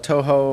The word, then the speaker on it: Touhou: 16 bullet hell games yeah um like the touhou yeah whatever how you pronounce it t-a-t-o-u-h-o-u is how it's spelled they're